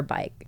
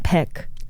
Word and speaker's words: Baik: Wait, your last name is Bake or Bike. You said it right the first time. Bake, right? Yeah. in Korean. Peek.